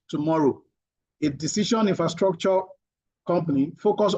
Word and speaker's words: TMRW: is also the founder of TMRW, pronounced tomorrow, a decision infrastructure company focused on how AI assisted decisions are formed, governed and revealed in high stakes environment.